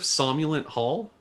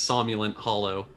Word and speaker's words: Somulin Hollow: you've never heard of somulin Hall that's not how you pronounce it by the way it's somulin Hollow I know that somente